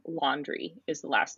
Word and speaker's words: Laundrie: How do you pronounce? Laundrie is the last name. So his name is Yeah, Brian laundry.